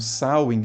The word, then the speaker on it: Samhain: bem antiga chamada sawing e a pronúncia É essa mesmo sain apesar de escrever dessa forma que tá aparecendo aí na tela o sain era um